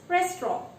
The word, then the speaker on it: restaurant: It's not restaurant, it's restaurant. It's restaurant, and this is not E, the spelling is A. Restaurant. This is not pronounced. It is in the spelling, but it is not pronounced. So it is restaurant with an A.